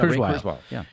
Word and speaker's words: Kurzweil: On that Joe Rogan interview I was telling you about, he had a futurist Ray Kurzweil, I think is how you pronounce it. Yeah, Kurzweil.